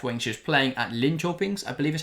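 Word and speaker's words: Linköping: she was playing at Lyn Chings I believe is how you pronounce it we were told the other day when we were mispronouncing it that it's Lyn Chings I'm hoping that is correct um but yeah so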